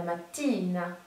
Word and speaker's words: mattina: Alors très attention, ne faites pas la mattina, parce que du coup ça fait penser à la prononciation du mot voiture, qui est la macchina. Là on est bien sur la mattina.